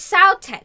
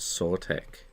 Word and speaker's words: sauté: I always pronounce it ce. Yeah, it's saute. Right. See, I was right. I was correct. Thought you should pronounced it sort.